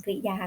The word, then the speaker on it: กริยา: ให้ เด็ก ๆ ว่า กริยา นะ คะ คือ 2 พยางค์ ไม่ อ่าน ว่า กริยา หรือ กิริยา ก็ ไม่ ได้ นะ คะ อ่าน ได้ แบบ เดียว ค่ะ ลูก คือ คำ กริยา